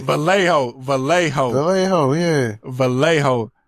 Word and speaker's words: Vallejo: I got to pronounce the L. I'm so I'm living in Texas. So when I see two L's together, I want to say with a Y sound.